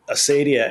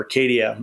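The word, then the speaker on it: acedia: I think of Asidia as Asidia or Acadia. It gets pronounced sometimes different ways.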